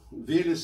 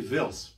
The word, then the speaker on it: Велес: человеков представляет интересы бог Велес или Велес или Велс в зависимости от того как на каком так сказать языке это произносится это так называемый психом